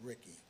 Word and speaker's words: Ricci: And I was thinking of another planner, spelled it same, but he pronounced it Ricky.